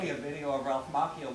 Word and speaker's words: Macchio: You showed me a video of Ralph Macchio like it's going to have It's this effect on Macchio. me It's and my Macchio. confidence. It's Macchio.